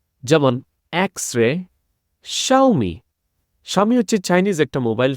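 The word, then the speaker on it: Xiaomi: capital x small x এখানে দেখেন যে এইটার উচ্চারণ দুই রকমের হয় একটা হয় ডাইরেক্ট এক্স আরেকটা হয় সা যেমন এক্সরে শাওমি শাওমি হচ্ছে চাইনিজ একটা মোবাইল ফোন কোম্পানির নাম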